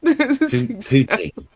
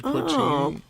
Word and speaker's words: poutine: poutine. Poutine, I think. is how you Speaking of the pronounce it.